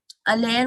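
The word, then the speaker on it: aller: উচ্চারণটা খেয়াল করবেন, আলের। হ্যাঁ, আর এর উচ্চারণটা হবে না, শুধু এই সামনের অংশটুকু।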